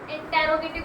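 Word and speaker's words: interrogative: fifth, जिसमें आता है इंट्रोगेटिव, बहुत सारे बच्चे इसको गलत प्रोनाउंसिएशन करते हैं, प्लीज गलत मत किया करो, इंटेरोगेटिव नहीं होता, इंट्रोगेटिव होता है, कई बार होता है,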